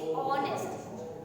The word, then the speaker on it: honest: Spelling start by H, but the pronunciation is honest.